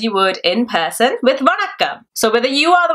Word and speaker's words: வணக்கம்: first by saying, Hello, Vanakkam. So you guys already know the word. Let's quickly review how to pronounce Vanakkam. Va-nak-kam, vanakkam, va-nak-kam, vanakkam. So, vanakkam.